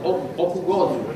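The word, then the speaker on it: Öküzgözü: Moi, je l'appelle Okuzgozu, mais moi, il faut c'est lui qui doit prononcer. How do you pronounce the... Okuzgozu. Okuzgozu. Okuzgozu.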